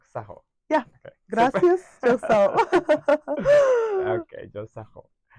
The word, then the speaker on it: Çok sağ ol: Çok sağ ol.